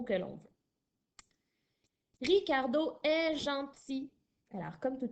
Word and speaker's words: gentil: Gentil au masculin s'écrit G-E-N-T-I-L. Alors, c'est assez rare que l'on voit un L à la fin qui est muet, mais ça peut arriver, comme dans le mot gentil.